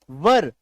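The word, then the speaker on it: were: वर व अ र आप ऐसे बोलिएगा व अर वर अ का हल्का सा मिक्स साउंड आएगा वर इसको वेयर मत बोलिएगा गलत हो जाएगा ठीक है बहुत ही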